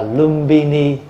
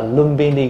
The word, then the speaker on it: Lumbini: là Lâm Tỳ Ni tiếng Phạn đọc là lumbini bây giờ mình đọc là lumini Garden và người Hoa đã